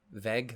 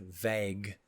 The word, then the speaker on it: vague: of all of them veg vague vague that is how you say that um it just doesn't sound right because that's not how it's not spelled veg um anyway um it's